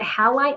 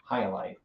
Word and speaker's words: Hyalite: Is it halite opal? That's how you pronounce it. Hyalite. Said what? Hyalite. Hyalite. Yeah, Hyalite. Hyalite.